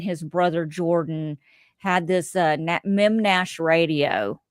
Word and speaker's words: Memnash: It was the Beard, Marty Ray, and his brother Jordan had this Mem Nash radio. It's MEMNASH. It is exactly sounds the way it's spelled, the way it's Mem Nash radio.